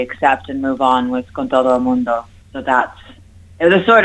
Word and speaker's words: Con Todo El Mundo: Which I can imagine kind of segs into the name of the album, Con Todo El Mundo. You should let Laura Lee pronounce it. it's Con Todo El Mundo.